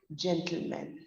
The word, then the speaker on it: gentlemen: say he's a gentleman we say he's a gentleman m i n the pronunciation is the same for both gentlemen in singular as well as plural similarly we don't say